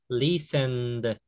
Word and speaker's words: listened: Listened. No, sin la E. Recuerde que la E no la pronuncio.